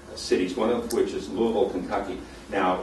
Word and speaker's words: Louisville: one of which is Louisville, Kentucky. Now, it looks like it's pronounced Louisville. You can die in Louisville for saying Louisville.